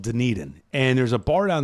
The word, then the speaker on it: Dunedin: Either way, I think the syllable is in Dunedin, like Dunedin. It's more on the E.